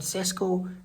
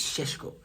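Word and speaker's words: Šeško: I'm being told that's how it's pronounced. It's not Cesco. Apparently, it's Shesho.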